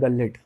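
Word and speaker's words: gullet: को हम कहते हैं गलेट। हाँ, कोई गलेट कहता है, कोई कहता है गुलेट भी कहता है, प्रोनाउंसिएशन डिफरेंट है।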